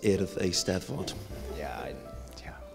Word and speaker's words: Eisteddfod: learn to say earth Eisteddfod it's pronounced ear of a step foot on the 20th take